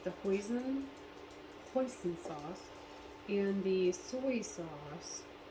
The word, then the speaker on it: hoisin: should have googled hey google how do you pronounce h o i s i n sauce that's pronounced hoisin sauce hoisin sauce okay so yeah i got